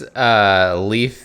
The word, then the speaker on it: Leif: It's Leaf the Explorer. Leaf, and it's spelled Leif.